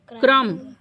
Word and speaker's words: crumb: CRUMB क्रम। क्या पढ़ेंगे? क्रम। क्या साइलेंट हुआ?